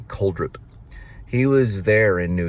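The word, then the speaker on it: Crudup: I used to call him Billy Kudrow, but it's Billy Coldrup.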